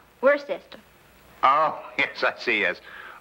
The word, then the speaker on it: Worcester: something else too dark but it's spelled w-o-i-c-e-s-t-e-r we're a sister oh yes I see